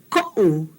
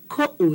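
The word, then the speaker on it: koʻu: And then the answer, o mea ko'u inoa. Ko'u, that's the difference. Ko'u, that okina is really important.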